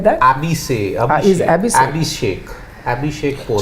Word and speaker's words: Abhishek: Abhishek like that or he's spelled like that? Abhishek.